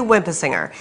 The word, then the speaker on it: Winpisinger: named for our iconic international President William W WIMP a singer his friends called him wimpy because so many people had trouble pronouncing his full name wimp a singer our